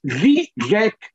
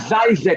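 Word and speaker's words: Žižek: My is Zizek, Vivek. It's not Zizek or what, so it rhymes even more than it may appear.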